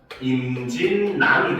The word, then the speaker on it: 임진란: 근데 이거를 발음을 하면은 임진남이 됩니다.